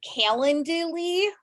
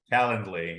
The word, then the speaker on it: Calendly: I'm probably not gonna say it right um calenduli calendly yeah so in that it's been really great